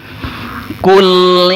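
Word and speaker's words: قُلْ: Ya, jangan sampai terpantul lamnya, karena lam tidak termasuk huruf qalqalah. Kul ya, ditahan dulu lidahnya, kemudian pengucapan huruf berikutnya baru dilepas ya. Jangan langsung dilepas itu lidahnya, kalau dilepas maka akan terpantul.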